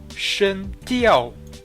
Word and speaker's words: 声调: pour finir, le ton en chinois se dit Shen Diao. Donc là, si vous entendez bien, vous devez remarquer que j'ai utilisé les tons. Shen, De Yao, Diao. Si je n'utilise pas le ton, ça devient Shen Diao.